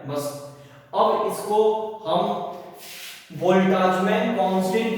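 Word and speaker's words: Boltzmann: अब इसको हम बोल्टाजमैन कांस्टेंट के रूप में लेके चलते हैं।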